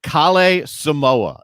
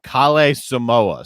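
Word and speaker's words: Kalle Samooja: So if you do see the guy, Kale Samoa is how you pronounce that name. Kale Samoa.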